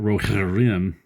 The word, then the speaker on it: Rohirrim: That's how you pronounce Rohirrim.